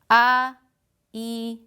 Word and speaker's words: Haití: Haití. Yes, we put an accent because it's a vowel and it's in the last syllable.